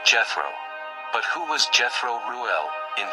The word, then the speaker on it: Jethro: He was called Jethro.